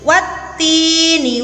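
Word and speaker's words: وَالتِّينِ: Hukum bacaannya adalah asyamsiyah. Adik-adik tahu ya, asyamsiyah itu artinya adalah matahari. Jadi siapa yang bisa melihat matahari? Ya, jelas apa tidak matahari itu? Matahari itu samar ya, karena ada cahayanya yang membuat silau. Sehingga asyamsiyah ini membacanya juga samar. Ya, tidak jelas. Jadi alif lam dimasukkan ke huruf ta menjadi wattini, dimasukkan ke huruf ta.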